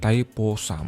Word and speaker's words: Thaipusam: thaipusam is sometimes also taught as it is pronounced thaipusam is a frenetic festival described by life appear